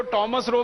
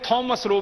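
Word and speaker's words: Thomas Roe: अंग्रेज उसको टॉमस रो भी कहते हैं, थॉमस रो भी कहते हैं, दोनों उच्चारण उसके नाम के हैं।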